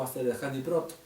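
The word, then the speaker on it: עשרת הדברות: Las 10 palabras o los 10 mandamientos conocidas en el hebreo se pronuncia como Aseret Hadabrim, 10 palabras o Aseret Hadibrot.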